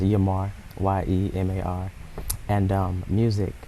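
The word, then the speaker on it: Yemar: It is pronounced Yamar, Y-E-M-A-R.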